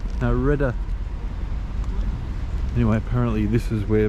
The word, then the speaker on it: Redoute: So, hey Beck, how's it pronounced? No, Redoute.